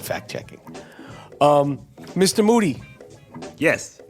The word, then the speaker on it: Moody: Moody. Last name rhymes with duty.